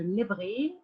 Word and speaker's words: lèverai: on peut pas alors c'est ton choix de prononcer le E pas eu ou pas alors je me lèverai je me lèveri voilà par exemple aujourd'hui